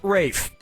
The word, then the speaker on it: Ralph: player one yep Ray first name is spelled like Ralph but pronounced Rafe and his brother Joseph